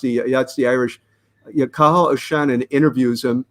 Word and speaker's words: Cathal: Cathal O'Shannon. Yeah. That's him. That's the guy. Yeah. Cathal. Yes, I couldn't pronounce that's the Irish. Yeah, Cathal O'Shannon interviews him.